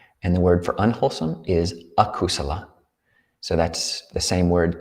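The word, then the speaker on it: akusala: kusala k-u-s and the word for unwholesome is a kusala so that's the same word kusala with a which is a prefix negation that goes on the beginning so unwholesome a kusala a k-u-s-a-l-a so one way to remember this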